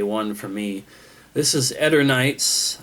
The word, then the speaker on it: Eternights: This is Eternights. I think that's the correct way to pronounce it. Some people want to say Eternights, but I'm pretty sure officially it has been pronounced Eternights.